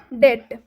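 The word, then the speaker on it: debt: silent हो जाता है एग्जांपल देखिए आप डेट नहीं लिखा हुआ है क्योंकि बी का उच्चारण इसमें होगा ही नहीं क्यों नहीं होगा क्योंकि बी के बाद टी आया हुआ है जब भी बी के बाद टी है तो बी साइलेंट हो जाता है बी का उच्चारण नहीं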